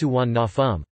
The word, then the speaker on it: Suvarnabhumi: For example, Sernphumi is romanized as Suwanapum, but pronounced Suwannafum.